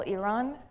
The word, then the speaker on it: Iran: something from my talk today is that it's pronounced Iran not Iran.